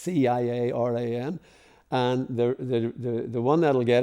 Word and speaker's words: Ciaran: For Northern Irish and Irish people it's not difficult, but Ciaran is spelled with a C, so it's Ciaran, and the one that'll get it actually is the.